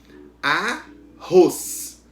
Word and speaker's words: arroz: Exemplo, arroz. Qual é a sílaba que pronunciou com mais força? Ros, a última.